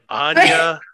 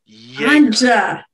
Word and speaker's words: Anja: You can say my name right. Anya. Like ganja. Okay, look, it's Anya. Anja. Anja. Yes. It's hard to make those hard sounds with a tentacled snout. Hard J, soft J.